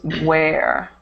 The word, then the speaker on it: where: Okay, And so if you can remember it, where with the H is pronounced the same as this word, wear, to wear clothes.